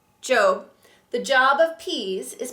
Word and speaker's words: Job: our books of poetry job which in the Bible is pronounced Joe the job of peas